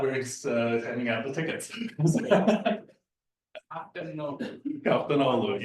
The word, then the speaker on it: Kaftanoglu: handing out the tickets captainu yes is a silent G it is a silent